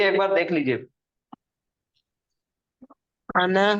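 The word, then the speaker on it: أنا: तो ये अना के बारे में देखिए, ये जो अना है ये नून के साथ, नून के ऊपर जबर है और उसके बाद अलिफ आ गया।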